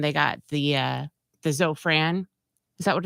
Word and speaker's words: Zofran: Monday morning and they got the uh the Zofran is that what it's called so am I